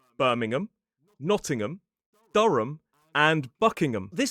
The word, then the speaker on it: Birmingham: But when it's a suffix at the end of a place name, we commonly pronounce it. So the H disappears and the vowel reduces to awah.